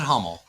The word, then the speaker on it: Hummel: Although, and I do know that it's pronounced Hummel, Silver Knight, Kyle.